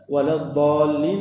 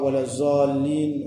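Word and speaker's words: الضالين: Wala dallin, et le dallin, et na une longue mad lazim qui nous lie 6 harakat, 6 longueurs. Il faut pas nous prononcer comme beaucoup prononcé. Nous fait si pas wala zallin ou soit wala zalin, tout ça là, non, nous besoin prononcer bien wala dallin.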